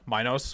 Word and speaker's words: Minos: yeah and it's also from uh you know minos which is the uh correct way to pronounce that not minnows yeah who who the